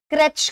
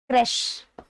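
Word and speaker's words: crash: इस वर्ड को बहुत सारे लोग क्रैच कहते हैं, बहुत सारे लोग इसको क्रैच कहते हैं, पर इसका राइट प्रोनाउंसिएशन क्रैच नहीं होता। The right pronunciation is क्रैश, the right pronunciation is क्रैश। और क्रैश होने के कारण इसमें श आना चाहिए, श वाला साउंड आना चाहिए।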